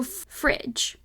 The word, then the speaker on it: fridge: come across but anyway so fridge couple things here one we need to make the G instead of making its G sound it needs to make its J sound and the way that we do that is by having an e i or Y come after it in the word fridge